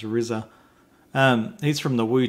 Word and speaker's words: RZA: um about the movie but it's it's actually pronounced rizza um he's from the wu tang clan which